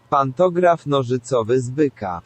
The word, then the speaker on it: Pantograf nożycowy z byka: I'm gonna play like a recording of how that's supposed to be pronounced in the background. Just Pantograf nożycowy z byka.